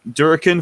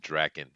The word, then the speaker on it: Durkin: Durkin fights me. Okay, I think he wants you to pronounce it Draken, but good enough.